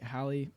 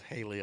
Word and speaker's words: Hallie: this house was, like, Hallie, my wife, she, like, freaked out about it. She never. Thank you for pronouncing her name. I read it on Facebook as Haley all the time.